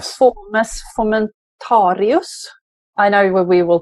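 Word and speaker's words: Fomes fomentarius: mention what fungi we're talking about it's called formus fomentarius i know we will pronounce this extremely differently no that's exactly how we pronounce it fomus fomentarius and that's the fungus that you end up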